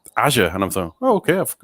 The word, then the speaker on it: Azure: i i immediately pronounced it the way you pronounce your name i thought oh this is called azure um and then i heard satya nadella refer to it and and he said azure and i thought okay i've got that wrong